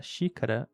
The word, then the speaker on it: xícara: A primeira, sendo em xícara, na palavra xícara, ela tem o som de sh em inglês, mas na palavra tóxico ela tem o som de s.